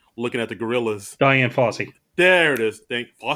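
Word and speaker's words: Fossey: Diane FSY. There it is. Thank fy. FSY like Fsy Vernon. Uh not spelled the same way but pronounced the same way.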